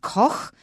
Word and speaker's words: Koch: it sound weird and there are some very famous industrialists in the u.s called the koch brothers and they spell it that way koch they pronounce it coke but there is a